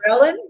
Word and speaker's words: ghrelin: And that other one that I can't remember or pronounce, Ghrelin. Yes. ghrelin? Yes, ghrelin. Think of gremlin, and that'll probably just confuse you.